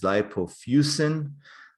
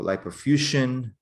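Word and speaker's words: lipofuscin: spots basically consist of what is called as lipofusin or lipofusion different people pronounce it different ways basically it's a combination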